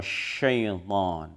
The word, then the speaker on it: شيطان: Sya itu adalah bukan sekedar sa, jadi bukan s biasa tetapi tebal sya. Maka cara membacanya adalah fa'azallahuma syaitan.